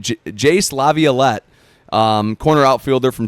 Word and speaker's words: Jace: First name rhymes with ace and last name, their first three letters has two capital letters.